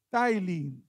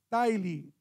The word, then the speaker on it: Tithely: Y se pronuncia Tithely, en inglés, Tithely.